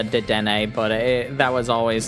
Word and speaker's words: Dedenne: I know it's pronounced Dedenne, but that was always